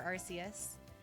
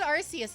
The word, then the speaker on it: Arceus: But both pronunciations are official for Arceus. Oh really? Because like I could have sworn they've said Arceus in the past before.